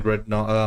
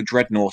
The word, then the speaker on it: Dreadnought: Also, Dreadnought is spelled Nought, not Naught. That is basically Dreadnought, as in he is not dreadful.